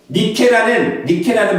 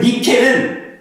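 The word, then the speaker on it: Νίκη: 나이키라는 말은 니케라는 말이 있어요. Nike라는 승리의 여신에서 나온 말을 나이키라고 합니다. 니케라는 그 발음을, 헬라어 발음을 영어식으로 발음한 게 나이키예요. 근데 그 헬라식의 말은, 그 니케는 원래 어떤 말이냐면 승리, 정복, 성공이라는 뜻입니다.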